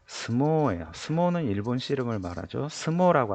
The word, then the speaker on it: 相撲: 映画 애가 자 스모우라고 적혀 있는데 실제 발음은 相撲 스모예요.